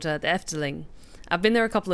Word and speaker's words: Efteling: terms of the proportions very much reminded me of a particular section at a theme park that's in the Netherlands called the Efteling.